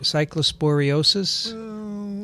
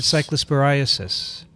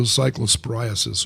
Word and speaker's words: cyclosporiasis: Is that the right way to say it? Cyclosporiosis? Or is it cyclosporiasis? It's cyclospora, so cyclosporiasis would probably be more correct. It's cyclosporiasis.